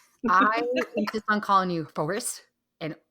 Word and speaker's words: Foerst: My last name is pronounced Foerst, like first, second, third, fourth. Mm-hmm. It is Germanic Austrian. So there we go. It's not a forest. I'm not a bunch of trees. Nope, it's not forest.